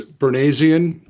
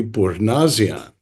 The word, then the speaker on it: Bournazian: Yeah, so it depends. If you're in the United States, Bournazian, it's pronounced like it's spelled, but if you're from the old country, it would be Bournazian.